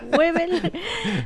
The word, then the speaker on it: Weibel: denunciarlo estamos conversando con el periodista beel pronuncio bien tu apellido beel No importa no importa webel Ah este que es el autor de traición